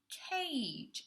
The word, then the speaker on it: cage: the first word is cage and think about how we're using this pronunciation Bob Joe okay so we're using the G letter but we're pronouncing it with the J sound okay so think about